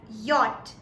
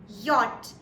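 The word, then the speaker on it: Jot: J is actually pronounced as yacht in German. Yacht. Y-O-T, yacht. So it sounds more towards a Y rather than a J.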